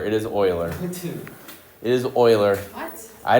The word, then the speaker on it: Euler: got oer no none of those are correct Oiler it is Oiler it is Oiler what I don't I hey